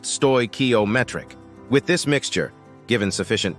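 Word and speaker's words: stoichiometric: chemically correct combination a stoak ometric mixture pronounced stoy ometric with this mixture given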